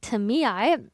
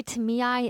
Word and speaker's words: Tamiae: At the center of Athenian sacred finance were the Tamiae, also known as the treasurers. And by the way, Tamiae is spelled Tamiai, and there were different levels to the Tamiae.